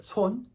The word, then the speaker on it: 손: 하지만 제대로 발음하기를 원하면 그냥 손 rhymes with bone, tone, cone 이렇게 얘기해주면 발음할 수가 있습니다.